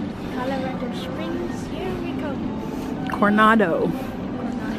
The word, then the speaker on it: Coronado: Coronado. I do not know how to say it. Not Colorado.